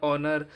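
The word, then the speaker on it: honour: है एच के बाद ओ होने पर एस साइलेंट रहता है यहां पर एच ओ एन ओ यू आर ओनर एच ओ एन ई एस ओनस तो यहां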